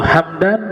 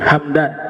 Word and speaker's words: Hamdan: khurasan di sekitar situ bacanya hamadan Ya kalau kalau Hamdan nama suku kalau hamadan nama kota maka mimnya dibaca fathah hamadan kalau Hamdan mimnya dibaca sukun Hamdan Ismu gabilah kalau hamadan